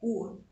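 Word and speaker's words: Hur: E o outro homem se chamava Ur, se escreve H-U-R, Ur.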